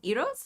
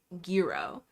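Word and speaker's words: gyro: Iro's, right? Is that how that's pronounced? It's not Giro. Iro. Isn't it Iro? Isn't that how it's pronounced?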